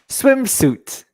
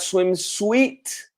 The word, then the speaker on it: swimsuit: last one oh yeah swimsuit swimsuit perfect so here the eye is silent it's not swim sweet but swim suit suit swimsuit okay every